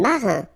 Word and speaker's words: marin: Alright, then un marin, I-N nasal, okay, un marin.